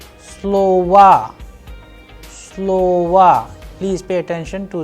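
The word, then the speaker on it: слова: Like in this case, it is falling on the first O. That is why the sound and the pronunciation of this particular word is like slova. Slova. That is why the last O is being changed into as if it is A.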